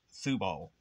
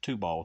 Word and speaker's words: Tubal: And actually, that was pronounced Thubal. Back in those days, it was pronounced Thubal. But most people pronounce it Tubal today.